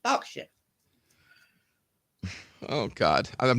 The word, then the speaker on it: Berkshire: going down below again it's not even spelled like that it's b-e-r-k Berkshire one but it's pronounced Berkshire oh God I'm not